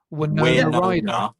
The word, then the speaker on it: Winona Ryder: Winona Ryder. Winona. Yeah, Winona. Winona Ryder.